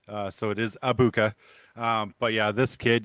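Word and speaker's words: Egbuka: at it, yes, the G is silent. Uh, so it is Ibuka.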